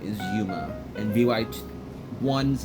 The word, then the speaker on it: Yuma: VY2's name is Yuma, and VY1's name is Mizuki.